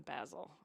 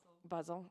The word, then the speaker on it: Basel: it ended up in basil is that how you say it B basil basil Basel okay buzzel okay clearly I wasn't there